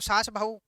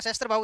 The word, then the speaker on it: सहस्त्रबाहु: तो वो सासबाहु है वह मंदिर। वो नाम तो उसका सहस्त्रबाहु है। अब लोगों को सहस्त्रबाहु नाम नहीं आया और उच्चारण बदलता गया तो उसको क्या कर दिया? सासबाहु उस मंदिर में जाओगे